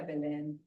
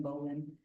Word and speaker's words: Berlin: I go by Berlin. Uh, now as an educator, I was Miss Bubba because people couldn't pronounce Berlin correctly. It was Bin, Bin, Berlin, Bolan, all kinds of names.